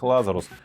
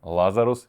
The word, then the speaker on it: Лазарус: как же всё-таки правильно лазарус или лазарус на самом деле я предпочитаю ставить ударение на первый слог кто-то может быть на